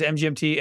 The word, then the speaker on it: MGMT: till just now uh the band name MGMT is pronounced as the individual letters MGMT and is not an abbreviation for management oh wow what is